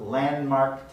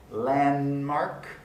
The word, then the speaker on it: landmark: the first one yokohama's landmark tower landmark l-a-n-d-m three segments in our three consonants in a row the d in the middle of landmark doesn't get pronounced it was a landmark